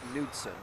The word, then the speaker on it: Knudsen: Car 6 of, that's an interesting one because I think in Europe it's Knudsen, but in I used to go to school in America with people named Knudsen, so the Knut would be, the K would be pronounced.